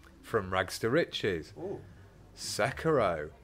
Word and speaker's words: Sekiro: Sekiro, correct pronunciation, won this year's Game Awards.